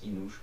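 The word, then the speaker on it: Enoch: qui me l'a dit on prononce inouche même si l'orthographe est pas écrite de cette manière c'est la prononciation phonétique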